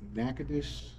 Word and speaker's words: Natchitoches: I learned that the hard way in Natchitoches, Louisiana, how difficult that is. I don't have that. It's Natchitoches.